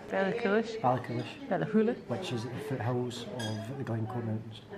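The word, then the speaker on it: Ballachulish: No, that's not how you say it. Ballacluish. Ballacluish. Ballacluish. Ballahula.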